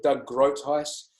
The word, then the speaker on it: Groothuis: So Doug Groothuis, Doug Groothuis is spelled in a way that doesn't sound like it says GROOTHUIS.